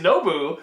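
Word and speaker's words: Nobu: no boo no boo boo yeah it is no boo which was a good Nabil but with nope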